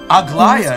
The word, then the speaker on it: Aglaea: Aglaea is how you say her name.